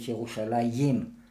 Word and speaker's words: ירושלים: We add the letter Yud, right, the way we write it today. But in the Bible it's always written Jerusalem with no Yud. We pronounce a Yud, but it's not written there a Yud.